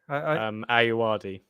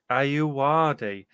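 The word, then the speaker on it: Ayoade: Ayuwadi. Ayuwadi.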